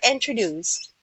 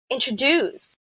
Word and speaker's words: introduce: it sounds like this introduce introduce so the the the there are three syllables and the last syllable is being stressed introduce yes and uh